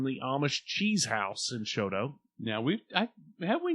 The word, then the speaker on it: Chouteau: And you go, Choteau. Komodo. No, it's Choteau.